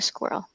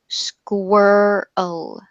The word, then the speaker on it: squirrel: so three times and some people i will say pronounce it with one syllable like in girl girl like that some people choose to pronounce it in two syllables squirrel squirrel and neither of them is is wrong so you can choose I think I have a tendency to pronounce it with two so that is what